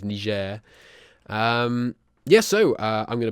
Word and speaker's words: Niger: Songhai Niger Trade Company, which is how you say that, by the way, you infants. That is Niger.